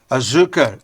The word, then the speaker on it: Azuka: to nonsense Azuka finished Azuka it's sugar in Portuguese Azuka means sugar in